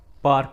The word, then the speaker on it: park: Another word car, it's not car, it's car, it's car. Park, it's not park, it's park, it's park, park. R is silence in both words.